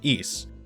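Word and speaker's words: Ys: There are many stories that tell the history of East, which is the Celtic pronunciation, an island city that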